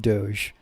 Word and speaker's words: Doge: right people pronounce it people pronounce it both as doggy and Doge people who are like